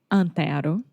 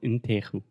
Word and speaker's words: Antero: How do you say his name? I always mistake his name. Antero. Senor Antero. Antero. Yes. I always say Senor Enterro.